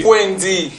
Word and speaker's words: Fouendi: On dit Fouendi.